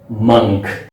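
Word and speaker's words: monk: But remember कि अगर आप इस वर्ड को मॉन्क कहते हैं तो ये इसका गलत प्रोनाउंसिएशन होगा। सो इसका सही प्रोनाउंसिएशन क्या होगा? इसका सही प्रोनाउंसिएशन होगा मंक।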